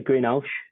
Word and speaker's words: Greenhalgh: How do you pronounce it? I say Greenhalgh.